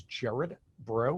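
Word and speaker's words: Gerard Braud: My name, as I said, is Jared Bro. It looks like Gerard Broad when you spell it. It's a French Cajun name, and that's why it has the odd pronunciation.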